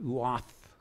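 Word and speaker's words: עֵת: that hebrew word there for season is it's pronounced ooth it's strong's h6256 and what it means is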